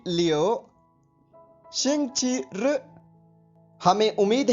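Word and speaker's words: 星期日: इसको बोलने व लिखने का ढंग कुछ अलग है, तो आप पहले इसकी स्पेलिंग सुनिए, XINGQIRI। एक बार फिर सुनिए, XINGQIRI। अब इसका ध्वनिवादन सुनिए, शिंगची रु, शिंगची रु, शिंग ची र, इसका अर्थ होता है संडे यानी रविवार।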